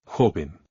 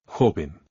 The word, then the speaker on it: joven: Joven. The stress goes on the second to last syllable because the word ends in a vowel, N, or S, and there is no accent. Joven.